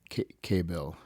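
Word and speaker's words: Kabayel: Kayabel. Yeah, that's how you pronounce his name.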